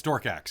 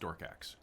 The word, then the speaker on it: Dorkax: It's Dorkax. It's pronounced Dorkax, not Dorkpo.